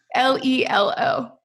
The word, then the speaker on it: Lelo: How do you pronounce Lilo? How do you pronounce Lilo? How do you spell it? Sorry. Lelo. Okay, Lelo. Yeah, that's my favorite brand.